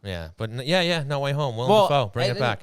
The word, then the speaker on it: Willem Dafoe: And then William Defoe is the other one you have. Dufour, yes, if that's how you pronounce William it. It's spelled Dafoe. that way. William Defoe. Willem Dafoe, yes.